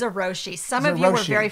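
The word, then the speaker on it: Zojirushi: Is that how you pronounce it? It's Zeroshi.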